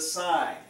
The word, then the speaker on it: sine: call this one the sign SI any sign a Nazi knee whatever but just sign there's pronounce it just like you would SI g in so the side of